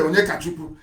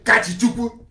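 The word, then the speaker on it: Onyekachukwu: His name is Ibe Onyekachuku, but he doesn't want to sound Igbo. So he will say his name is Ibe Kachichuku.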